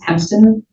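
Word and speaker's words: Hempston: Have a seat, state your name, spell it for the record. Please, Hemston.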